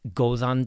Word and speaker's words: Góðan: Right in the middle of Góðan we have the eth, which is a voiced th.